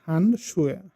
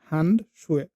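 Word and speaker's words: Handschuh: হ্যান্ড শুয়ে, হ্যান্ড শুয়ে, হ্যান্ড এখানে আমার স্ট্রেসটা চলে আসতেছে।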